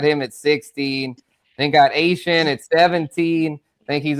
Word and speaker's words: Achane: Yes, not Devon Achane. This is Achane. Yes, or Achane for those I know Yeah, yeah, for sure, for sure. Achane. Yes, the Cajun pronunciation, the Cajun French way.